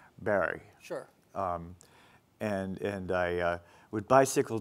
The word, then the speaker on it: Barre: The New England pronunciation was Montpelier and Barry.